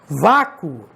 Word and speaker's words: vácuo: Vácuo. Vamos nos concentrar só aqui, ó. Vácuo. E agora, hein? E agora é osso, né? Porque quando você pronuncia vácuo, o O de vácuo tem som de U também.